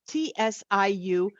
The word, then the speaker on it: Tsiu Marpo: One is Tsiu Marpo. It's Tsiumarpo. It's supposed to be pronounced Tsiu Marpo.